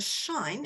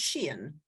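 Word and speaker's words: Shein: it's an e-store of course is I originally pronounced the shine in fact it's pronounced Sheen and there was a I looked at it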